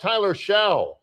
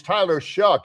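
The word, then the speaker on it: Tyler Shough: Hey, what do we think about Tyler Shaw or Tyler Shoe? It's Tyler Shuck. It rhymes with, his name is Tyler Shuck. Let's take a break. It rhymes with yuck.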